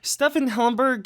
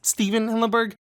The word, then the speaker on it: Stephen Hillenburg: just a simple mistake but Stefan Hamburg it's obviously not correct it's Stephen Hillenburg I have two theories